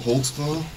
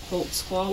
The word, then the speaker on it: Holtzclaw: there because I don't even know how to spell it how do you say it holtzclaw hold Squad what is that it's a German do you